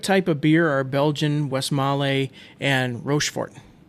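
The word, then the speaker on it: Westmalle: Maul was the first some pronounce it West Mallay. So again feel free to blow me up and tell me the correct pronunciation. I always say West Mall, but I think it's West Mallay.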